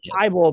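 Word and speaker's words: Thibodeau: Is it Tybull or Thibault? I say it. I say it's Thibault, but I might be reading too much into the Basketball Reference pronunciation, and that's what most of the announcers say. I believe, and I try and go by what the home teams are saying as well.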